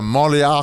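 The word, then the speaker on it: Montréal: recorded live at The monreal Comedy Festival that's how they say it it's crazy they say it like they're having a slight aneurysm yeah try it guys go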